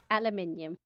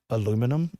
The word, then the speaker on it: aluminium: Aluminum or aluminium? Aluminium. Is that It's got an I. it's got an I in it?